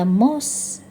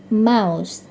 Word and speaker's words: mouse: Next, ini nama hewan, sering dibaca mouse, gitu ya. Padahal yang benar mouse. Dia tikus atau mouse komputer, juga dibaca mouse.